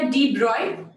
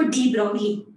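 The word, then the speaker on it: de Broglie: है, इसको बोलते हैं, वैसे तो इसका एग्जैक्ट प्रोनाउंसिएशन है ये साइंटिस्ट का डी ब्रॉय, ठीक है, लेकिन हम इंडियंस हैं, हमें बहुत मजा आता है दूसरे का नाम बिगाड़ने में, हम बोलते हैं इसको डी ब्रॉगली।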